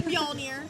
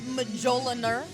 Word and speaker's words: Mjolnir: let's first of all it's spelled with an m and a j and it's mjolnir but don't go by the spelling it is not majoliner i mean unless you